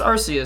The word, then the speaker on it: Arceus: It makes me cry because people say Arceus. I think I actually used to say Arceus, but eventually I learned that apparently the way to pronounce it is Arceus, so I changed my my grammar to fit.